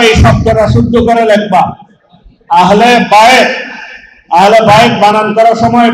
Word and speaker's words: আহলে বাইত: এখন বিভিন্ন জনকে আহলে বাইত শব্দটা উচ্চারণের মধ্যে অনেকে আমরা ভুল করে ফেলি। অনেকে আহলে বাইত না বলে অন্যভাবে বলি। এই শব্দটা কি আহলে বাইত নাকি আহলে বাইয়াত? আহলে, অনেকে আহলে বাইয়াত বলে।